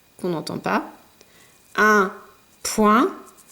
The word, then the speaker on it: point: Le foin, un coin, loin, moins, avec ici une lettre muette, le S, qu'on n'entend pas, un point, de nouveau une lettre muette, cette fois-ci c'est le T.